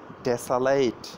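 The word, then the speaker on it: desolate: তো এর সিনোনিম কি, ধ্বংস করা, অর্থাৎ এইটি একটি সিনোনিম, অর্থাৎ যে ডেসালাইট, ডেসালাইট, দেখছেন এই উচ্চারণটা কি, ডেসালাইট, ডি এস ও এল এ টি, ডেসালাইট, ডেভাস্টেট, ডেভাস্টেটিং, ডেভাস্টেশন, ডেসালাইট।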